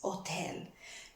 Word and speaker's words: hotel: is the war hotel remember the H is not pronounced oh it's no hotel is hotel now if you want